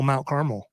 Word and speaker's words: Carmel: there's also an actual Mount Carmel oh yeah okay it's not Mount Caramel though but is is the